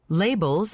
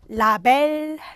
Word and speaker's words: label: 우리가 흔히 라벨, 라베르라고 알고 계신 거. 라벨이란 발음이 아니라 label 알고 계셔야 됩니다.